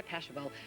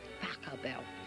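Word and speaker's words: Pachelbel: know is canon indeed by pashabol but they say i've got to pronounce pakka bell and good week for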